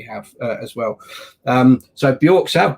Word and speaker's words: Björksav: as well um so bjorks have burks have as mickey uh probably more correctly pronounced um earlier um that